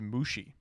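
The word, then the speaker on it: むし: Each of these words, immortal, bug, and ignore, are all pronounced mushi.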